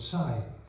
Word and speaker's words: Psy: Sai and Jenny my half brother is called Psy which rhymes with guy but they were the